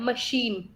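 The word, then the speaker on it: machine: मशीन, सी एच मशीन में क्या बनता है, श बन रहा है, ठीक है।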